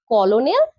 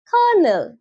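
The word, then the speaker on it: colonel: Number ওয়ান হচ্ছে সিও এল এন কি বলবে? কলনেল কারণ লেখা তো তাই আছে কিন্তু এটা ভুল। সঠিক হবে। কার্নেল ঠিক একই রকমভাবে এই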